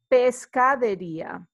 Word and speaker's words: pescadería: You see the, like before with carnicería, where we have the accent is where you actually place the accent also when you're pronouncing it. So it's pescadería.